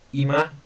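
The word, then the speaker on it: 今: And then here, this means now, this, or present, pronounced ima, which actually does mean now, kyo, which is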